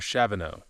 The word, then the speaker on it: Shavano: Uh coming off of How do you pronounce the mountains again? Shaveo and Taboash. Shaveo. I knew Taboash. Shavano.